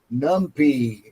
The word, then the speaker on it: NumPy: Numpy. Nu m p y. Numpy pronounced numpy.